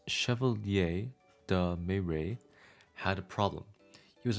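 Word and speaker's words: Chevalier de Méré: It was the year 1654 and French noblemen Antoine Gumbal and the Chevier Deere pronounced chevier de May had a problem.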